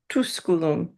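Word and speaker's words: Tusculum: Estie quirum estum at nona said good good I watch the o and the tusulum is a that is a short u so just tuskulum You're making a little bit long, but okay.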